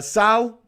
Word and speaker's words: Sal: Sal, like salt, but without the T.